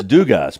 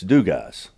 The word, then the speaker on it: Dugas: from Louisiana it's it's du guys or they would tweet at us and say hey man down here it's pronounced du guy you don't pronounce the S and I love all